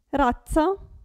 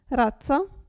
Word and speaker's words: razza: Qui, razza, pensate a pizza, razza.